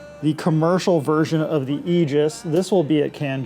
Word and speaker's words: Aegis: get depressed so the Aegis and this is egis not Aegis I've been saying Aegis so please say egis is the way to pronounce it Eis like e this version We